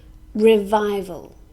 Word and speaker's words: revival: that brings good results revival this is a noun has three syllables and we stress the second syllable revival this is used when